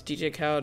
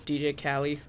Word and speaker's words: DJ Khaled: You know, I used to pronounce DJ Khaled as DJ Cali for some reason. I used to think it was DJ Cali.